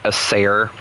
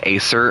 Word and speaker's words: Acer: I found out not too long ago that it wasn't a sare. It was Acer and I got very upset at myself for pronouncing it wrong this entire time.